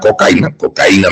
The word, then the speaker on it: cocaína: La DEA de Colombia informa lo siguiente: el ladrillo de cocaína, o algunos llaman cocaína me parece que es con acento en la I, de cocaína en la